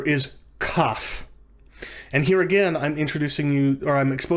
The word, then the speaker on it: kaf: talk about the letter cough with the dagash laina when it has the doggesh elena it is pronounced like the letter k in the english word king for which reason it